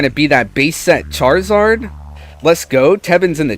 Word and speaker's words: Charizard: Don't forget about the I between the R and the Z. It's Charizard, not just Charizard.